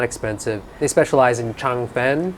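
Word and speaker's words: changfen: expensive they specialize in chang fen which is sometimes pronounced fun but they're essentially rice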